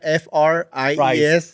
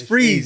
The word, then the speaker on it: Fries: You spell it F-R-I-E-S. Fries. So I always thought it was fries. Yeah, they spell it fries. But people are like, no, homie, it's Freeze.